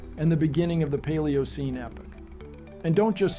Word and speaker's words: Paleocene: you're right it's C paleocene and yes it's pronounced paleocene not C or whatever nonsense you were spouting the paleocene Epic indeed began about 66 million years ago